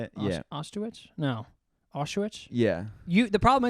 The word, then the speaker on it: Auschwitz: Nazi family, like one of the guys running Auschwitz. Oh, I told you that, right? Auschwitz? How do you say it? Yeah. Auschwitz?